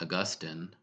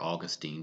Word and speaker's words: Augustine: fact actually where this comes from is St Augustine or Augustine depending on how you say it he actually